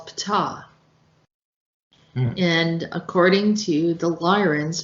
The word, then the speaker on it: Ptah: So Egyptian mythology, Ptah is probably vocalized as P-I-T-A-H in ancient Egyptian, is the demiurge of Memphis, god of craftsmen and architects.